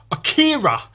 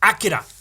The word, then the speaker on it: Akira: but everybody pronounced avikira it was one of my favorite animes but it should probably actually be pronounced Akira Akira that might be